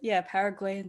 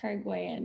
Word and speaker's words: Paraguayan: Who said Paraguayan dish? Paraguayan, yes. I know a lot of people say like Paraguay or Paraguay, but so I have